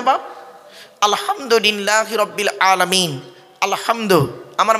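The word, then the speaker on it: الحمد: বাপ আলহামদুলিল্লাহি রাব্বিল আলামিন আলহামদু আমার মা বোনেরা ভালো করে ফলো করুন আলহামদু আলহামদু হায় হুটি হায় হাউয়াজ নয় গলার ভেতর থেকে হে এটা উচ্চারণ করবেন আলহামদু আলহামদুলিল্লাহি রাব্বিল আলামিন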